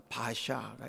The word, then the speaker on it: 바아사: 자, 그런데 여기에 이 나답 이후에 모반을 일으켜 왕이 된 바아사. 근데 이제 그 바아사라는 말을 바샤라고도 표현해요. 줄여 이렇게 빨리 발음하면 바아사가 바샤가 이렇게 되거든요.